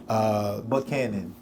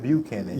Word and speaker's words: Buchanan: Buchanan. Not Buchanan. Yeah, no. Buchanan.